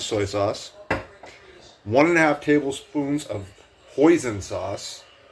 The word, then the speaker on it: hoisin: 1.5 tablespoons of hoisin sauce. Rhymes with poison, but it's basically Asian barbecue sauce.